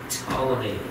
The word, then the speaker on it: Ptolemy: told me and that spelled with the P the P is silent so P t o el e my Ptolemy and he got the